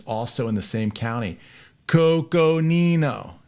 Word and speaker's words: Coconino: so i gotta go real slow coco nino cause i like to go fast coco nino see what i did there i slowed it down for those of you